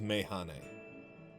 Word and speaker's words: Mehane: Okay, so it is Mehane.